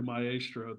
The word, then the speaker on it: maestro: B just like what the Italian pronunciation is closer to my asro than Maestro yeah yeah yeah but